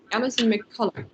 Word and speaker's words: Alison McCulloch: So we have Alison McCulloch, that's how her name is pronounced.